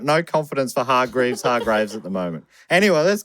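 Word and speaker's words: Hargreeves: the umbrella academy and i was saying hard grades and then someone said it's actually hard graves and then i looked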